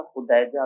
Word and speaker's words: خدیجہ: آپ کا نام خدیجہ الکبریٰ بھی ہے, یہ لفظ تلفظ اس کا خدیجہ بھی پڑھا جاتا ہے, دونوں طرح سے پڑھنا جائز ہے اور درست ہے.